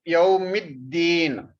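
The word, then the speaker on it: يوم الدين: Maliki Yawmiddin. This mean we will pronounce with the Da. Yawmiddin.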